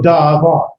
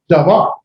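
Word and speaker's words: דָּבָר: This is a word that is pronounced at the beginning of the syllable. This first syllable is pronounced at the beginning of the word. So davar, davar.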